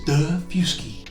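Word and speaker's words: Daufuskie: the gillyard spelled g-u-i-l-l-a-r-d or Buford which is pronounced Beaufort in North Carolina d-a-u-f-u-s-k-i-e is the fusky which is a great kayaking destination tell you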